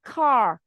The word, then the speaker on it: car: Và tiếp theo từ ô tô thì là car. Đó là cách phát âm chuẩn, mình bật chữ K. Cái K của tiếng Anh thì lại khác tiếng Việt, nó lại là âm bật ra.